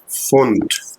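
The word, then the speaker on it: Pfund: का साउंड आएगा फेट ऐसे ही एक वर्ड और है फंड ध्यान दे इस पे तो देखो ये हो जाएगा फंट फंड नहीं है ये फंट होगा क्योंकि पी यहां पे रीड नहीं होगा ओके अगर कोई वर्ड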